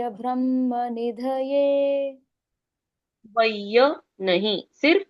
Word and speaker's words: निधये: नमो व नमो व ब्रह्म निधय ब्रह्म निधए नमो व ब्रह्म निधए नमो व ब्रह्म निधए वय नहीं सिर्फ व नमो व ब्रह्म निधए